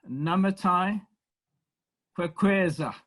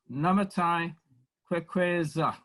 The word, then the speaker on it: Namatai Kwekweza: Namatai Kwekweza. Namatai Kwekweza. I'd like us all to say it. Namatai Kwekweza.